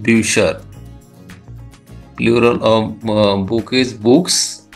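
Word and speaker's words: Bücher: plural of book is books और उसको German में कहा जाता है ब्यूसर क्योंकि यू उमट का यू उमट का प्रोनाउंसिएशन यू होता है दोस्तों तो इसलिए इसका हो गया प्रोनाउंसिएशन ब्यूशर ब्यूसर का मतलब होता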